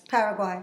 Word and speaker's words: Paraguay: No, the Megadeth show in, how do you pronounce it again, boss? Paraguay.